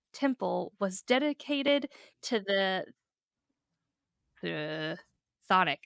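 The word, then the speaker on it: chthonic: interesting um so dear friends today's word is Sonic uh it is spelled c h t h o n i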